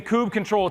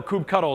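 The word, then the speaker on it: kubectl: tooling if you're using Kubb control to be able to or coop cuddle depending on how you say it to be able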